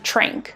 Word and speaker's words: tranq: tile our next word is t-r-a-n-q which is pronounced trink the word is also spelled t-r-a-n-k now the